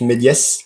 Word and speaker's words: Méliès: And speaking on that, before the pronunciation police gets you, Chris, it's pronounced Méliès. For once, the S is not silent.